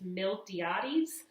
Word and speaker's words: Miltiades: The general of the Athenians was named Miltiades. So if you saw this name in your reading, it's Miltiades.